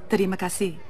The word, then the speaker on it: terima kasih: Actually, it's pronounced terima kasih.